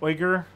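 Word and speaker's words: Uyghur: go with that um it's pronounced oyger uh and pronouncing it as weaker as it is chinese day propaganda interesting i did not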